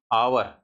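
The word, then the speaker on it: hour: तो जैसे यहां देखिए और गिने-चुने वर्ड ही है भाई आवर एस साइलेंट है।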